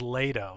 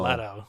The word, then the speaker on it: Leto: not after Jared no this is lato that's not Leto lato lato at traes so uh